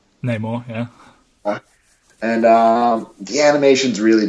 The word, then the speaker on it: Namor: Namor? Namor, yeah.